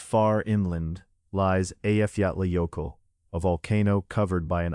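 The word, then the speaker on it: Eyjafjallajökull: Not far inland lies Afyattly Yoko, a volcano covered by an ice cap. Its name can be a challenge for visitors, but it is often pronounced approximately AFA Yoko.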